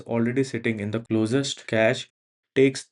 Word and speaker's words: cache: Those are called caches. It's spelled CACHE and it is said like cache.